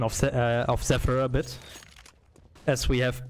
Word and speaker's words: Zephyr: People are still mocking your pronunciation of Zephyr a bit, as we have both been pronouncing it wrong at the beginning.